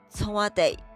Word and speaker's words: 청와대: 就念 청와대。